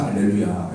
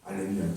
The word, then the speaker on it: 알렐루야: 근데 옛날 라틴어 안에서는, 라틴어로 번역되는 가정 안에서는, 라틴어에서는 하 개념이 없어요. 히읗 개념이 없다고. 없다 보니까 그냥 H가 묵음이 되는 거죠. 묵음이 되면서 알렐루야. 이렇게 되어왔던 거거든요.